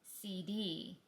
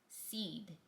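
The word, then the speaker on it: Cede: Everyone in the brokerage business keeps pronouncing this name as CD and company but it's spelled C D and pronounced seed.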